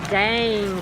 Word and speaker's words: Dang: Say it like that. It's the right way to say it. Dang. It's dang. It's somebody's name. It still sounds better to say dang.